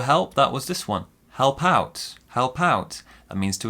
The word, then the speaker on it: help out: that was this one help out help out that means to assist to help now this one here our stresses on the second syllable help out help out the next one that